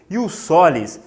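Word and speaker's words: jus solis: Galera, este critério, ius, J, se escreve com J, J-U-S, ius solis, é aquele critério que leva em consideração o quê para atribuir nacionalidade à pessoa?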